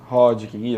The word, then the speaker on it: Hodgkin: Com um linfoma, eu não sei pronunciar direito. Hodgkin. Hodgkin, exatamente.